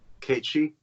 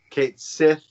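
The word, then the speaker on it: Cait Sith: Kate Shee. Your cat took a shit? Kate Sith.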